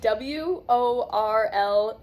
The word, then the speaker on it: world: Okay, so this word has 1 syllable because there's only 1 vowel in the word. It's 1. World. But I think it is important that we break down the sounds of each one.